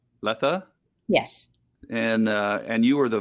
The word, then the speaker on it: Latha: How do you pronounce it? It's Latha. Latha?